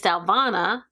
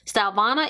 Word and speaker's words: Stylevana: can't try out again the name of the company is stylvana that's how i would pronounce it stylvana is your one stop